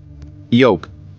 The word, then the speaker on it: yolk: Yolk, here L is silent.